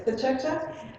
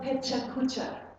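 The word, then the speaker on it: Pecha Kucha: why it says Pechacha, but Mizumi, am I pronouncing it right, Pechacha? Can you say it again? So it's Pechacha. It's not Pechakucha, like many people say.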